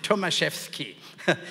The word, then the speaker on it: Tomaszewski: is actually polish background you wouldn't know how to pronounce it tomaseski so and the Polish